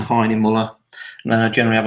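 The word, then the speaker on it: Hahnemühle: no sorry German company it's called high anymore or hanim all different pronunciations of it wherever I go so I'll just stick to Heine mullah and then I generally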